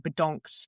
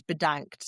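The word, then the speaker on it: bedankt: And we were learning a bit of Dutch before we went and they got kind of stuck saying bedonked because it sound like donked on the head. It's it's thank you is bedanked.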